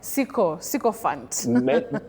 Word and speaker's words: sycophant: Many people say sycophant, but we don't have that glide I. Sy, no. You simply say si.